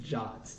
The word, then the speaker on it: JWT: That always, the fact that JWT is pronounced Jot just throws me off every time I hear I it.